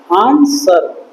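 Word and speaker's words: answer: ए एन एस डब्ल्यू ई आर आंसर डब्लू इसमें एक silent रह जाता है।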